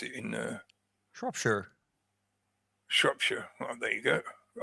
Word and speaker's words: Shropshire: Yeah. Not Shire. I mean, you can really. I learned the hard way. Sorry. You can really squeeze the vowels depending on your accent, but yeah, it's almost never pronounced Shire.